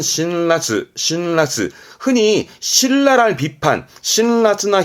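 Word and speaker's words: 辛辣: 그래서 신랄, 발음은 신라스, 신라스.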